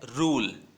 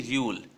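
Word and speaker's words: rule: तो इसको क्या प्रोनाउंस करना है? रूल, न कि र्यूल।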